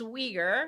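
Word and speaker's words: Uyghur: bit on that so the the weager it's weager with a u weager force uh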